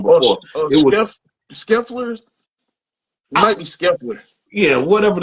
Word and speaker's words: Scheffler: Okay, I said his name wrong before. It was Scheffler.